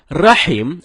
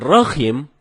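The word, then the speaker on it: رحيم: Rohim ini merubah makna rahim artinya yang maha penyayang sedangkan Rohim artinya Maha merdu bacaan yang benar Nyai salah dengan huruf ha ha dalam tenggorokan jadinya Rohim bukan roh Hai kalau temen-temen bacanya rokim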